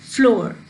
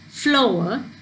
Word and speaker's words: flower: silent say flower flower you don't say it as floor you say it as flower where there is a